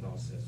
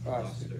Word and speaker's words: Gloucester: My lord of Warwick and my brother Glaucus. Wait, how do you say that again? Gloucester, 2 syllables.